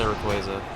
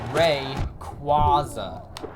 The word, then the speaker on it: Rayquaza: A lot of people say Rayquaza. Except it's wrong. Your opinion is wrong. It's literally Rayquaza. Like, that's how it's spelled and pronounced. That Y exists. If the Y wasn't there, maybe they would have a point.